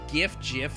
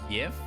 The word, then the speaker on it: GIF: GIF is pronounced YIF? Absolutely not. Some say Varkar. Verkar. Vercare? Vercharacter. Vercare. Actually, it's Vorchor. There's no way anyone says yif instead of gif.